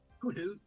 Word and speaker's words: Hoothoot: It's Hoothoot. No, it's hoot hoot. And there's even the one owl like remember thing. Hoothoot for you all. No. It is. It might be spelled Hoothoot, but it's pronounced Hoothoot. You know it. There's no space bar Oh, there.